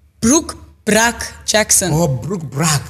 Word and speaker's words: Brooke Bruk-Jackson: they pronounce it wrong. Brooke Bruk-Jackson.